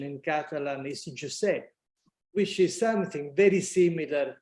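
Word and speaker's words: Josep: And I've just learned that the right pronunciation in Catalan is Giuseppe, which is something very similar to Italian, to the Italian pronunciation with the Giuseppe.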